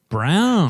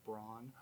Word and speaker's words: Brown: Brown. That's how you pronounce it. Like the color, not like brawn.